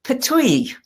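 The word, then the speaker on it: Ptuj: i have to tell you that how you pronounce the name of that place in slovenia is patui let's see the spelling again i just looked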